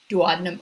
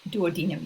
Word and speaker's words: duodenum: the small intestine and that is called the duodenum or duodenum you can pronounce it either way i always tell the